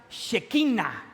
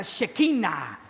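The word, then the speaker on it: שכינה: en medio de ellos La gloria de Dios en hebreo se pronuncia shekina a ver Pueden repetir después de mí esa palabra shekina shekina shekina en hebreo significa la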